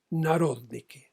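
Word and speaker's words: народники: papel la palabra siguiente: Narodniki. N-A-R-O-D de dedo, N-I-K-I con acento en la O.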